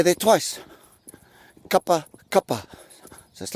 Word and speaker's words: kapakapa: final all right so repeat after me Co cuppa cuppa right just remember to-- supper supper all right again Co cuppa cuppa go got buck upper go cut back upper